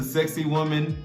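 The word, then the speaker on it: Sacsayhuamán: if they come to cusco i'm going to sexy woman yes that is the correct pronunciation i'll put the spelling somewhere below but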